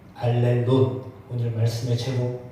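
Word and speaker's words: ἀλλήλων: 저거를 뭐라고 읽냐면 알렐론이라고 읽어요. 알렐론.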